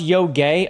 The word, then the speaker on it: Yotei: It's pronounced Yotei.